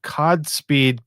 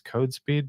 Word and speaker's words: CodSpeed: So that's my topic right now is the CodSpeed tool, and it's probably maybe it's CodeSpeed, but it's spelled COD, so I'm going to pronounce it CodSpeed.